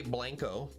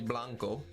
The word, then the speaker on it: blanco: Dennis wants to know what else we as Americans pronounce wrong. And I can tell you from living in Texas, we say blanco, and it's actually blanco because it's Spanish.